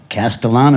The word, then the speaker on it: Castellano: Castellano, you got Castellano. it. Yeah, it's not an easy one to It's not pronounce.